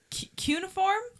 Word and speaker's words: cuneiform: So it's cuneiform. Sure. Is how you pronounce it.